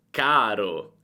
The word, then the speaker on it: caro: Carro, carro, caro, caro. Senti la differenza? La A è molto più breve nella parola con le doppie. Carro, carro, caro, caro.